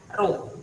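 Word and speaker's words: rho: itu simbolnya roh Ya seperti huruf P kecil ini bacanya ruh hambatan jenis semakin pesan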